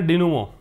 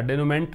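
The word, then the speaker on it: denouement: इसका प्रोनाउंसिएशन है डिनुमो। याद रखिएगा, डेनुमेंट नहीं पढ़ना है, डेनुमो।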